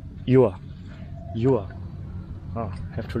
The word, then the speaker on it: dừa: How do you pronounce banana? Chuoi? Chuoi? Chuoi? Banana? And dua? Coconut? Yua. Yua.